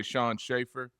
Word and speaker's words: Sean Schaefer: I've never asked Sean, am I saying your name right when I say Shawn Schaefer? Yes, sir. Okay.